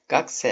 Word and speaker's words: 学生: 学生 - Gakusei - Öğrenci demek Gakse (okunuşu) Ben de 先生 - Sensei - Hoca oluyorum bu durumda.